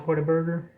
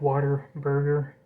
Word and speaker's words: Whataburger: a local chain called Whataburger um and the locals pronounce it Whataburger so it sounds like Water Burger um they're they're tenders